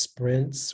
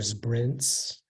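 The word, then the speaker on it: Sbrinz: all right all right uh your word is Sprints I know this has a homonym so it can be pronounced Sprints or Sprints and it's a type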